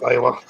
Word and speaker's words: Lila: That's pronounced Lila.